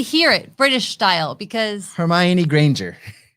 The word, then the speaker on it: Hermione: summer looking girl hermione how do you say it hermione the way it is i always said hermione no hermione is the way she says it in the movies look it up i